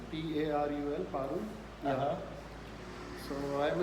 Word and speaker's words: Parul: pronunciation of your name So, again? have a look. I'm Parul. Barul. Parul, P-A-R-U-L, Parul.